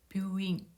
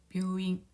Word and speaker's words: 病院: 뷰를 보면은 요음, 뷰, 오 모음이 들어가서 그 다음 모음 우가 와서 역시 오 장음으로 발음해 주면 되겠습니다. 뷰잉, 뷰잉, 뷰잉.